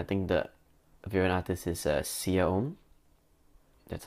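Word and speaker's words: Siya Oum: I think the variant artist is Sia Om. That's how you pronounce her name.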